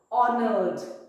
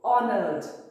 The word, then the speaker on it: honored: number 50 we have honored h is silent so honored number 51 create create